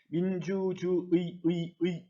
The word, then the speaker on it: 민주주의: 민주주의 이렇게 발음하는 게 옳습니다. 의로 발음하는 것 옳습니다. 그런데 민주주의라고 하는 것이 하나의 단어네요. 그런데 네 번째 음절에 쓰인 거네. 그러니까 첫 번째 것은 의로 발음해도 되고 이로 발음해도 되는 거.